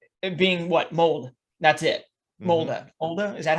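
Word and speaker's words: Molde: Molda. Molda, is that how you pronounce it?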